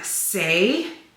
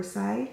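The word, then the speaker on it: Saie: two two lip glosses from say or sayi I think it's how you say it say I picked up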